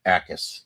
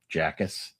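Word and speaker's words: Jacas: Akis. The J is silent. Where? The second guy. Jackus.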